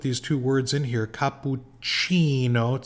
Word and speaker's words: cappuccino: two words in here Capuchino C is the CH Chi sound and makato is the k sound makato capucino makato and